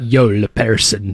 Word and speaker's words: Joel Persson: Joel Persson.